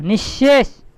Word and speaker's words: নিঃশেষ: আর মূর্ধনস্য কি হলো নিঃশেষ হ্যা এটা একটু তালিবসের মত চলে আসে উচ্চারণটা হালকা করে হ্যাঁ নিঃশেষ বলে কিন্তু